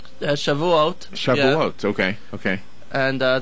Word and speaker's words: Shavuot: done it's done with boys uh did I pronounce it right shavat Shavuot shav okay okay and uh that that means